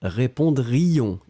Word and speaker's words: répondrions: Donc nous allons mettre les terminaisons, nous répondrions, prononcez bien le I, hein, répondrions, ion, ion, sinon, si vous ne prononcez pas le I, moi j'entends le futur, nous répondrons.